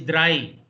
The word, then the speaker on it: drei: Not three, it is drei.